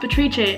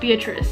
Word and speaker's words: Beatrice: My name is pronounced Beatrice and not Beatrice.